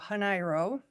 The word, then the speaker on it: Janeiro: Um it is pronounced with a Spanish pronunciation, so Haniro. It is derived from Portuguese, so it's got the same root as Rio de Janeiro and the word January.